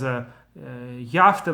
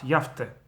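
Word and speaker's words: יֶפְתְּ: And similarly, for instance, when it says Yafte lekim leyefet, not Yaft, Yafte, right?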